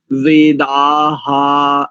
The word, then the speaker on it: वेदा: काम करो एक दूसरा अंत में जो यह शब्द है ना विश्व वेदा वेदा बस इतना वेदा ऐसा मत कीजिए विसर्ग का